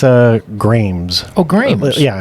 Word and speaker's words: Gramse: care but it's uh grams oh great yeah it's a it's a a not an i oh so I've been calling you Grimes for kind of a while now thanks now I'm embarrassed